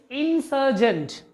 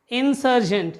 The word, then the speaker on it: insurgent: The third word is insurgent. Insurgent. Again, this is noun. Insurgent. Insurgent. R पे stress नहीं देना है. When we pronounce this particular word, we don't stress on R.